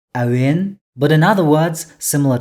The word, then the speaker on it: әуен: Tau, Awin.